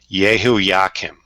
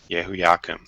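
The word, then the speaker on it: Jehoiakim: I believe it is pronounced Yehoiakim. Yehoiakim.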